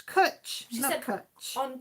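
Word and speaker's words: cwtch: said first of all she said it wrong it's cut it's kutch she's got a coach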